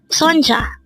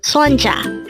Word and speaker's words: 손자: at De hangle R number 100 Sonja again Sonja this pronounces is a two syllable word the first syllable is son the second syllable is pronounce it with me Sonja again it's Sonja the word Sonja is